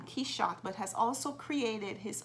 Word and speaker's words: Quichotte: Quichotte in English, spelled as it is pronounced, K-E-Y-S-H-O-T, comes from the narcotic